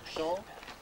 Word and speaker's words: Cham: La Chambre, ça s'écrit C-H-A-M, ça se prononce champ.